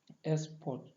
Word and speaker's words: export: Take for example word like export, and then export, then export. In the first one, export is a noun. So the first syllable is stressed.